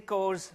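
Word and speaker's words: CORS: that we're announcing is codes yes it rhymes with doors uh and so we will be releasing cores uh this this um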